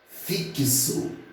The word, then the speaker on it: fixo: 5 fonemas por quê Porque os dias é pronunciado como se fosse parece fixo né então eu pronuncia o fio e eu escrevo FX ló mas produziu fixo então o ks e dão x nesse caso que tem o valor de KS E aí serão 5